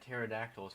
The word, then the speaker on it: pterodactyls: So, did you hear that pterodactyls found out a way to urinate silently? The P is silent.